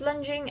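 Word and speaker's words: longeing: Even though it's spelled Longing, it's actually pronounced lunging, and in some sources, it's actually spelled Lunging.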